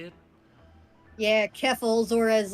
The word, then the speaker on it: Keffels: um now uh first he what is it keffels is that how you say it yeah keffels or as like uh the ralpha male says